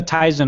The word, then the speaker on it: Tizen: Yeah, Samsung uses the Tizen open source on their TVs. Mm-hmm. And I want to say, they say Tizen, not Tizen. So for those who say that I'm saying it wrong, you're saying it wrong.